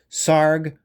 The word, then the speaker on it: Sarg: Sarg rhymes with arg.